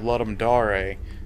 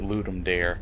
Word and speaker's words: Ludum Dare: game was made for a game jam called let'em da-rae which means to give a game in Latin everybody calls it Ludum dare because that's how it looks like it should